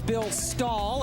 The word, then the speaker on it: Bill Stull: And here is Bill Stull, as it is pronounced, went to Seton LaSalle High School.